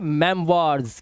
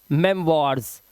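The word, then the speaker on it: memoirs: ओ आई आया, उसके बाद आर लगा हुआ है, यहाँ पर आवाज क्या हो गई, वाह हो गई, तो इसे पढ़ेंगे मेमवार्स। क्या हो गया, मेमवार्स।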